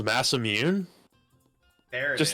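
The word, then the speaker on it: Masamune: this game I'm like there's not a single Japanese person on Earth who's saying the word Master mun they're not the ER is not being factored into the pronunciation for them but for some reason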